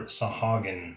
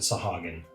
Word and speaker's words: Sahuagin: Either way, these will make super nice Sahagin or Sahuagin miniatures, depending on how you want to say that. I pronounce it Sahagin.